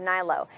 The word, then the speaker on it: Hnilo: yeah everything i love your last name though nylo h-n-i-l-o thank you thank you it's a good